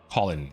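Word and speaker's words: Kholin: The leader of which Colin.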